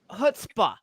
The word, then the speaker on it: chutzpah: Chutzpah.